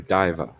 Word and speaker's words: Diva: I am Diva. Oh, is it Diva? My bad. I've been pronouncing it Dava.